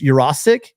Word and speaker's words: Urosic: I looked up the pronunciation. The guy was saying it wrong on the telecast on the Pac-12. It's Urosic, and 6'5", 225.